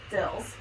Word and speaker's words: Dils: how do you say your last name Dills Dill is not the new kid anymore found